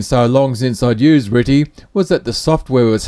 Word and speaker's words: RTTY: first abacus for Christmas you heard me mention ritty it's how we pronounce the abbreviation rtty which means radio teletype